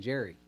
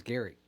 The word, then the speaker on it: Gary: up it's graphic period my first name starts with a G it's a hard G good my name isn't Jerry it's Gary I kind of like